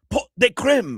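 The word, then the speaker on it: pot de crème: Pot de creme. Pot de creme. I mean, that's the way you pronounce it.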